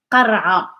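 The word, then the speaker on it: قرعة: This is the qah sound, r sound, da sound, and this is not pronounced. It's just qara.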